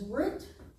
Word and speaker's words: Ruth: The name of Ruth is Root. But it does not have a doggish in it. So they made it a TH, so Ruth. But it's still pronounced root. Ruth. Root in Hebrew, Ruth in English.